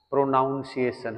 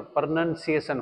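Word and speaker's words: pronunciation: प्रोनंसिएशन improve हो जाएगी बहुत से लोग ऐसे बोलते हैं प्रोनाउंस एशन है ना बोलते हैं ऐसे लोग प्रोनाउंस एशन नहीं होता प्रोनंसिएशन होता है क्योंकि किसी भी बड़े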